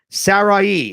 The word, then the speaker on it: Saraih: Sarai, and that is how we pronounce her name, Saraih, says, what